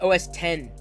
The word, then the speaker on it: OS X: current poll is wrong it's you you pronounce it os 10 and by the way